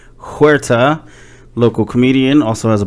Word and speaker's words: Huerta: the rolling R thing, I told somebody to just try to say a D sound, like Huerta. Like you just try to do a D.